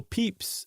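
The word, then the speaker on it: Pepys: as far back as Samuel peeps uh in the 17th century the famous diarist whose name I finally pronounced correctly um he tended I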